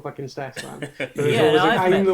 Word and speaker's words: Steffan: Is it just Steffan? Steffan, yeah. Steffan, yeah, sweet.